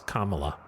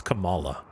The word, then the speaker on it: Kamala: I think I did because I get confused because it's not the they don't pronounce it the same as Kamala. It's Camala.